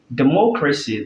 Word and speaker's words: democracy: Democracy, the word mo, the syllable rather, mo is stress.